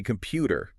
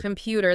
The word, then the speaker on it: computer: A lot of learners say computer. 3 equal beats. Flat. Right. One, dot, and da-da, computer. Computer. The middle just pops up.